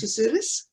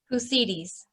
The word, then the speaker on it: Kusidis: Ms. Ms. Kasudis? Have I got that pronunciation right? Kusidis. Kusidis. Thank you, I screwed that up too.